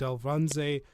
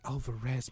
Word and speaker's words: Alvarez: You have David Alvanze. I butchered that completely. Alvarez, my God.